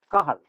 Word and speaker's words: Cajal: The greatest one so far is Ramon Cajal, even though it is spelled as Cajal, it is pronounced as Cajal.